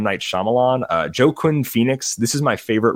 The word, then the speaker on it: Joaquin: I really need you to say Joaquin. This is... Oh, Joaquin. Sorry. Whatever. Joaquin. Say it. Yeah. It's Joaquin, is it not?